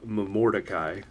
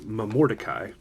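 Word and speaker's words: Momordicae: what dried fruit dis mom or dekai I was saying it wrong all 27 times but I said in the first part of the video but it's mom or Takei mordecai i looked it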